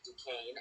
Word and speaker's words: Duquesne: six florida state unfortunately beat duquesne and that's actually how it's pronounced i figured out sequence